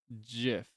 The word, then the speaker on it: GIF: it's with the soft GIF, like the peanut butter.